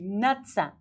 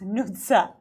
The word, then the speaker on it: Nutsa: But in American Idol they were calling me Nutsa. So it's like in Georgian it's Nutsa.